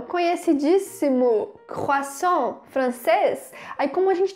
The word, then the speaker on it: croissant: Então a gente vai falar croissant e vai fechar a boca no final, tá? É um som bem fechadinho de croissant.